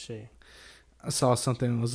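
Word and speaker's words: Shai: the other day that it's Shea he said it's pronounced like she dog Justin Jackson I think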